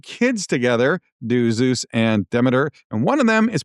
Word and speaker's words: Demeter: So, Demeter, I've also heard that pronounced Demeter, we're going to go with Demeter, is the goddess of grain and seasons and harvest.